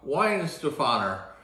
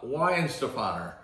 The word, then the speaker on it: Weihenstephan: So if you see any of these, this is always a tough one to pronunciate, but it's a Weihenstephan is how you pronounce it.